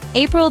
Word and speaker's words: April: Stress is on the first syllable. Say after me. April, the next word is area.